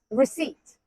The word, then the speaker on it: receipt: Receipt. The P is silent, and so is my wallet after shopping.